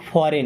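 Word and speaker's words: foreign: सीखना अ मीस एक फॉरेन अब यहां प जी साइलेंट होता है फॉरेन का मतलब विदेशी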